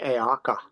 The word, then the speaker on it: haka: Rifle was uh the ritual known as the haker if am I pronouncing that right yes h a Haka the Haka and that is performed by the